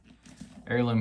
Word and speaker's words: heirloom: I always want to add the extra H in there when I say it together, but that's not how you say it. We got the English language is really great, in that you say heritage, but the H be silent in heirloom.